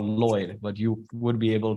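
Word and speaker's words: Lloyed: d Lobo Lloyd Lobo it's pronounced Lloyd but my mom threw an e in there and I asked her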